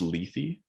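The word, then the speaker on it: Lethe: actually when the society lithi takes her in yeah um so uh later is it pronounced leafy yeah what did you oh i was i was always saying it like let it go it's funny because i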